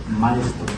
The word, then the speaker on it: Mystro: Maestro.